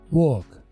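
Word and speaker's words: walk: का वही let's work वक डब्लू की आवाज हमेशा राउंड होती है अक्सर आपने सुना होगा कि डब्लू साइलेंट भी जाता है नहीं नहीं साइलेंट नहीं होता है डब्लू के लिए दोनों होठों का बाहर आकर राउंड शेप बनाना जरूरी है लेट्स वक वॉक आपको लगेगा वॉक मैं बोल रहा हूं यह डब्लू की वजह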